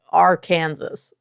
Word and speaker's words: Arkansas: nestled between Texas and Arkansas, which I don't know why it's funny, but when you look at the word Arkansas, it looks like Arkansas. So, like, it's not that, it's Arkansas.